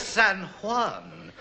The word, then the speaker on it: San Juan: Aid your hope it's San Juan and San Jose shout me God yes in Spain they always pronounce the J's as H when do you think